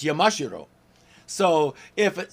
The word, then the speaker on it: Yamashiro: the third so Nakayama Spider-Man's last name is Yamashiro in American pronunciation and if you listen especially when the Amazon says it it's Yamashiro so if it sounds like I'm talking funny